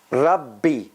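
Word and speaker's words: رَبِّ: same letters repeated how look at this one rabbi rub rub b see rabb one b b another b rub b they're two b's two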